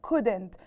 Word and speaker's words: could: وانا بنطق could and couldn't نطقت ال L. did I pronounce the L? of course I didn't. يبقى احنا when we pronounced could and couldn't we pronounce the word as if there's no L، كأن مفيش L خالص.